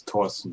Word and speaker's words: Thorsten: So the pronunciation is Thorsten, but whatever. Thorsten, okay. Thorsten. So it's like Thomas, cancel the H.